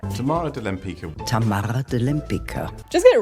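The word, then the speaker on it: Tamara de Lempicka: difficult to pronounce or Tamara Wempitska is getting mispronounced like 90% of the time Tamara Delampica Tamara Delampica Tamara Delampica just get it right or Kosciuszko's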